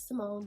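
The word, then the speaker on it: Symond: My name is Simone.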